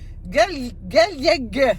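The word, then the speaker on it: Gailliègue: Aujourd'hui, là, je suis avec Clémence Galieg. C'est ça? Ouais, c'est ça. Non, mais je l'ai dit prononcé.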